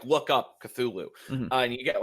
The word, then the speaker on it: Cthulhu: and tells you about how uh lovecraft himself tried to pronounce the name it was like it's like it's like a breathy kind of thing yeah yeah it's like a lot of heck a lot of h sure like a lot